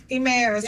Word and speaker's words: Emmaus: Emmaus. Emmaus. Okay, thank you. I literally just practiced the pronunciation with Karen.